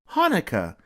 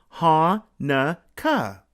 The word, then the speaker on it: Hanukkah: But no matter how you spell it, it's always pronounced the same way. Hanukkah. Say it with me. Ha-na-ka. Hanukkah.